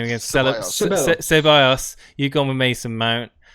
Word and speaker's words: Ceballos: Ceballos.